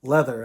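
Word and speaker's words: Läther: this was cool leather leather actually is how that's pronounced it looks like lather like lather rinse repeat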